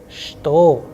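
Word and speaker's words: что: what is pronounced as shto however we start when we write it we write with che but when we pronounce it the sound is like okay all right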